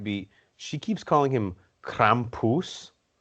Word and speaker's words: Krampus: And he's probably like, it's Krampus. Oh, my God. Can you just get it right? We've known each other for 80 years. I think you're purposely pronouncing it wrong.